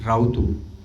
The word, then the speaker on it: Rautu: सबसे पहले तो फिल्म के बारे में पूछना चाहूंगा, इसकी स्पेलिंग है RAUTU, राउतू। रोतू बोलते हैं, राउतू बोलते हैं, क्या है ये? राउतू रावत जो होते हैं ना, जो पहाड़ में,